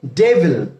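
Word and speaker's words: devil: Angel, Angel মানে হচ্ছে ফেরেশতা, আর আমরা এটার অপোজিট ওয়ার্ড দিতে পারি ডেভিল, ডি ই ভি আই এল, উচ্চারণ হবে ডেভল, ডেভল। ওকে, সো এটা প্রনাউন্সিয়েশন হবে ডেভল।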